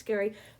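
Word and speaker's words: Gery: So, if you're looking him up, it's Ge R Y Barker, but it's pronounced Gary.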